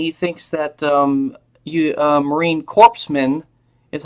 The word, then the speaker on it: corpsman: say you know what you mispronounced corman its corpsman are you sure you